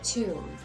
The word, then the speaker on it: tomb: Now, please pay attention how you pronounce tomb. It's long U and B is silent.